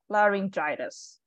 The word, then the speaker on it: laryngitis: uh that is but just like pharyngitis right so the only thing different is the the very first syllable so read say it again ladies laryngitis laryngitis all right and